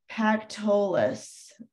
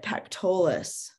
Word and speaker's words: Pactolus: So let's put River Pactolus, I think is how you say it, Pactolus.